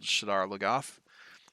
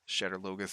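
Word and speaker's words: Shadar Logoth: gets uh this dagger from a place called shiddar lagoth shattered logos i usually pronounce it um and uh uh the city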